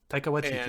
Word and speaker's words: Taika Waititi: I have no idea how to pronounce his name. Yes, Taika Waititi.